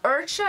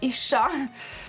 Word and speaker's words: Ircha: called ishshah' gaming and everyone pronounces that kind of wrong Archer is fine but it is a shock today Eric and I